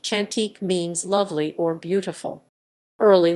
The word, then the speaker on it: Chantek: southcomb in malayan indonesian hantik pronounced chantik means lovely or beautiful